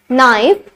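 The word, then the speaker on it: know: किससे पहले होता है अगर के एन से पहले हो तो के हमेशा क्या होगा साइलेंट होगा के अगर एन से पहले हो तो के हमारे पास होगा silent for example in द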